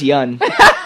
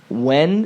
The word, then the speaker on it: Yeun: when it's like it's just yan. It's pronounced phonetically yan un I think or sometimes